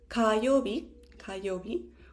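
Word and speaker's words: 火曜日: Then we have Tuesday, 火曜日.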